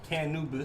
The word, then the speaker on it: Cannubis: Let's say it right. Cannubis. Like Anubis.